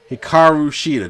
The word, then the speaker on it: Hikaru Shida: We get the Women of 1,000 Holds, Serena Deeb taking on Hikaru Shida.